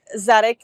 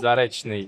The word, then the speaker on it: Zarechnyi: in Barcelona and today we're joined by Zarney. Do do I am I pronouncing that correctly? Zaresi. Zarni.